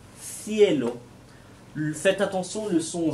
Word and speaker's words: cielo: Le premier, c'est le son des lettres C, CE, CI ou Z. Pour les prononcer, il faut que vous mettiez la langue entre les dents. Cecilia, Zorro, Cielo.